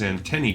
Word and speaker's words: antennae: you will pass the trial well they do pronounce the plural of antenna which is antennae correctly so points for that and it sounds